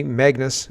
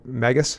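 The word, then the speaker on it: Magas: over fear Barber's attorney Magnus and he's got that name wrong but it's uh Magus sorry is now cross-examining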